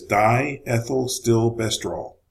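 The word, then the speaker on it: diethylstilbestrol: chemical name for DES it is die ethyl still bester all just in case you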